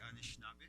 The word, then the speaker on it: Anishinaabe: Okay, and that's the correct way to say Anishinaabe, the correct way to spell it.